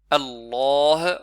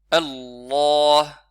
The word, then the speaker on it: Allah: Il n'est pas écrit, on n'écrit pas le alif, mais ça se on ne prononce pas Allah. Allah. C'est une erreur que certains font, mais il faudra allonger un petit peu.